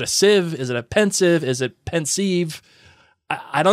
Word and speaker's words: Pensieve: problems no you don't people say different things potatoes we say pensive so Marion Blake media house Larson is gonna pronounce it pensive okay fair now I'm gonna